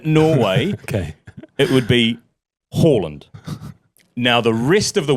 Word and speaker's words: Haaland: No, my position is if you were pronouncing it in Norway and he is Norwegian. In Norway, okay, it would be Haaland.